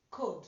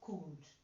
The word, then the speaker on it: cold: Remember, this too is pronounced O, cold, not cooled.